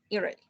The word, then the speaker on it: Italy: Okay, the pronunciation for Italia is Italy, okay? Is what, teacher? Could you repeat? Italy. La T como si fuera una L. Italy, okay?